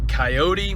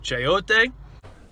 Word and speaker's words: chayote: with we pulled the what i called a coyote which i have some students to let me know it's pronounced chaote i don't i don't have a clue what